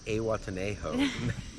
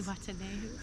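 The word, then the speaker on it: Zihuatanejo: We're in Awatenejo. We are not. Say Watanehu. Say Watenejo. Say it right.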